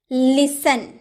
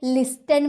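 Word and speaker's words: listen: यदि किसी शब्द के अंत में टी ई एन दे रखा हो तो टी साइलेंट रहता है। जैसे लिसन, आप कभी इसे लिस्टन बोलते हैं? लिस्टन नहीं ना, क्योंकि इसमें टी ई एन दे रखा है, इसीलिए हम टी का उच्चारण नहीं करते हैं, हम सिर्फ इतना बोलते हैं लिसन, लिसन, लिसन टू मी, लिसन ध्यान से सुनना।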